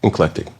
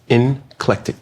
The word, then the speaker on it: eclectic: Eclectic. Say it again. Inclectic. It's eclectic. Well, the heavy on the N because there's no N in it.